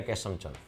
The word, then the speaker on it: केशवचंद: इसी का केशव चंद गुप्ता, श्यामचंद या केशवचंद? केशवचंद। कई बार के साइलेंट रहता तो श्यामचंद भी लिख देते हैं, कई बुक्स में लिखा होता है श्यामचंद गुप्ता, कोटा से।